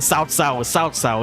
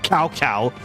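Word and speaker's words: Cao Cao: Kingdoms um 11 where they start pronouncing Sao Sao instead of cowcow. So, yeah, before actually before Dynasty Warriors, Romance of the Three Kingdoms 11 had the pronunciations correct.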